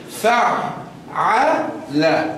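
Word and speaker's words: فعّل: Fa'ala. How many ayns have I pronounced in reality? Two. But if you say it quickly, fa'ala, it seems as if you're saying one ayn.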